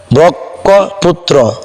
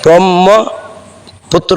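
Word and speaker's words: ব্রহ্মপুত্র: অনেক ভুলভাল উচ্চারণ করেন এখানে আপনারা অনেকে উচ্চারণ করেন ব্রক্ষ পুত্র ব্রক্ষ ব্রুত কিন্তু এখানে ব্রক্ষ পুত্র হবে না এখানে ব্রহ্ম পুত্র হবে পুত্র কারণ এখানে দুইটি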